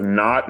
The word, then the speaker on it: not: pronounce, for example "not", you do say "noT", with a puff of air.